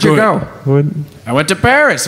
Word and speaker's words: Paris: go I went to Paris of course beautiful Perry yeah that's how they say it yeah yep you